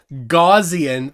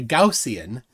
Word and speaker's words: Gaussian: on Clive Wells says don't say goian that's a witless pronunciation I'm saying it on purpose is it GA is G it's from gaus so it's a a gaussian yeah they say I